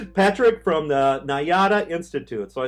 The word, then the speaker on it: Nayada: time by popular demand right Patrick from The nyata Institute so I said that right right you